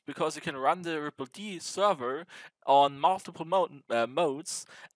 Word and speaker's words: rippled: something ends on the the d stands for daemon so it's the ripple daemon and right so that's